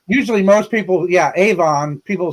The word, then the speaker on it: Avon: we have a town it's spelled a-v-o-n now in England that's Avalon right Avon Avon not here it's Avon oh yeah The Makeup